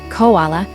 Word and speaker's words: koala: The word is now pronounced in three syllables. Koala possibly an error based on that new spelling.